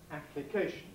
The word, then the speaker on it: application: Well, the stress pattern is then application, double stress, main stress on the K.